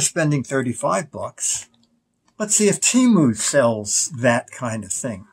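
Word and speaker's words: Temu: How to pronounce the name of this. Yes, Sims to Rachel. Okay. She said it's simply Timu.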